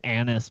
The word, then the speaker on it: anise: black licorice comes from it's pronounced Anis by the way anus Anis Anis Anis